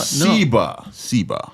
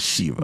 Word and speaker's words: Sheba: Sheba, not Shiva.